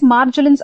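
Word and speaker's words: Marjolin's: to marg marjorins also how do you pronounce this yes guys it is marjalyn's ulcer so whenever a person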